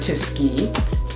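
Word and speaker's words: Tisci: online a lot of people are praising Mr tisky and forgiving if I say his name yeah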